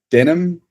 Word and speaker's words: Denham: My name is Denham, pronounced like the jeans.